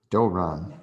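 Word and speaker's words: δῶρον: And that's that vowel after the delta is a omega. So it's a long O sound is the vowel. Yeah, I know. Doron? Doron, Doron, which is a gift.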